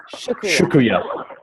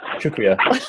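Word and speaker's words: शुक्रिया: Shukriya. It's almost like sugar. Yeah. And then kriya. Shukriya.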